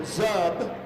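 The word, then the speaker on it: Czub: Zub, and you'll notice that the C is silent.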